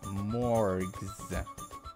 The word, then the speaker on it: Morgs: call you morgs Mo morgs and with a hard G not a soft one so there's no confusion